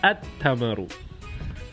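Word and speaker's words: التمر: And if I introduce a definite article, the lam disappears because the sun is too obvious. So it's at-tamaru.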